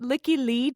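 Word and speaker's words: Lykke Li: I'm going to explain why these two songs are a couplet in a second, but also I think you'd pronounce it Licky Lee.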